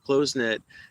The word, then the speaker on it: close-knit: That's not how it's pronounced. It's closenit. Closen-nit.